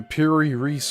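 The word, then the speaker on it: Piri Reis: The US Navy has analyzed the Piri Ree map and this is two words and it's spelled P I R I R E I S.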